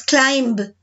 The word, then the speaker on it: climb: pusieron con un ejemplo por ejemplo klein no pronunciamos la vez lo decimos climbed decimos climb solamente entonces yo te voy a